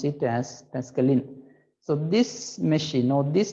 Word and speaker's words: Pascaline: write somewhere it is called pascaline okay not pascaline we pronounce it as pascaline so this machine or this device was invented